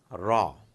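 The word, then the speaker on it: راء: Then we have Ra. Ra is R-double-A, and thankfully it's a simple R, which is the English equivalent of it.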